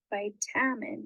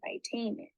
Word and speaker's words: vitamin: thinks the uh sound instead of by tamen or vitamin that a sound that you say in the middle of vitamin is the schwa sound when we have an